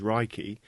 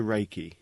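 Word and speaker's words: 霊気: meaning universal life force although the proper Japanese pronunciation is raiki it has been westernized to Reiki Ray means Universal omnipresent present everywhere at the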